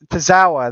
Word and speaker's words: Tozawa: Tozawa.